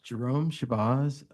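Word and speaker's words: Jerome Shabaz: State your name and spell it for us. Jerome Shabbaz.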